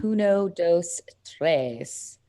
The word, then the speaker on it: Puno dos Tres: Puno dos Tres. Puno dos Tres. Can you spell that Everywhere.